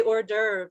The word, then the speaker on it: hors d'oeuvres: when we're borrowing words we say hors d'oeuvres like french say it kind of um we borrow that word directly we take their spelling we try to say it like french people say it so that's what makes